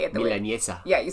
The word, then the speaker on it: milanesa: Milanesa.